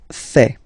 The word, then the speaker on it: fais: Je fais. Je fais. Remember, final S not pronounced.